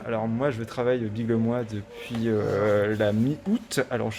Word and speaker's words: Biglemoi: Lille, c'est bien comme ça que ça se prononce. Biglemois. Biglemois.